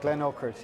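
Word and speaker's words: Glenurquhart: Is that how you pronounce it? Glen Oakert, yeah.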